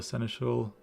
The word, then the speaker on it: Seneschal: The songbirds and the seneschal prince are as ever our shining stars on stage, and they have been practicing oh so diligently for this event.